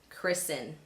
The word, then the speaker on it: christen: right for you to assume that the T is silent. Let me give you some examples. Glisten, fasten, christen, moisten.